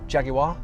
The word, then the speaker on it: Jaguar: Whether it be from the name, which I've been mispronouncing this whole time apparently, according to my friends in the UK, Jaguar, as they call it.